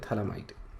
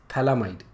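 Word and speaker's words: phthalimide: इसको अपन बोलते हैं थैलामाइड, ओके। pH जो है बेसिकली ये साइलेंट है, okay, that's why it's called as थैलामाइड, okay.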